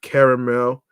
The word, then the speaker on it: caramel: salted kettled drizzled with caramel which is how I pronounce it because there's two A's um popcorn is one